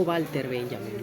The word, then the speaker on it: Walter Benjamin: La W en alemán se pronuncia como una V o una V de vaca, V laidental. Eh, y por eso digo Walter Benjamin, ¿no? Pero en este caso, Walter Benjamin eh aunque criticaba la